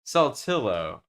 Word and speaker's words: Saltillo: Saltillo. Saltillo.